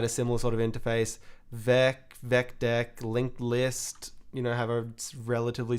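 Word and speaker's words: VecDeque: Vec deck, which I pronounce it Vec deck. It sort of stands for Vec double-ended Q, right? Q-U-E-U-E in this case.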